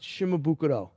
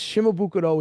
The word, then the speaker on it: Shimabuku: shimabuku or is it shimabukuro and he said it's shimabuku he says shimabukuro is a Japanese way of pronouncing it he says it's shimabuku I said well at